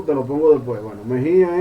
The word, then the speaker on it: Mejía: Bueno, Mejía es con acento en la I, ¿verdad? Mejía.